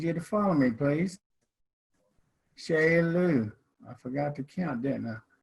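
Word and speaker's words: ᏎᎷ: is how we write corn and it is pronounced shea lou okay at the count of three i don't i need you to follow me please sheila i forgot to count didn't i uh i'm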